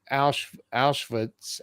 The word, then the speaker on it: Auschwitz: So you were in Auschwitz.